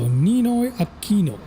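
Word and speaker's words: Ninoy Aquino: So, Ninoi Aino.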